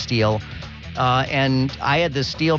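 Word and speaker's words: Stihl: had a steel and Steel by the way it's s-t-i-h-l that's the brand that you see s-t-i-h-l but it's pronounced steel and I had the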